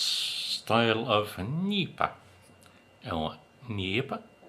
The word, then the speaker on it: NEIPA: Now, on to the San Cristobal and its style of Nipa. Oh, Nipa? How do you pronounce that?